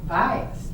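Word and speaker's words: Buis: away which they were she knew how to pronounce a bias you all know bias b-u-i-s what else would you call it well we've all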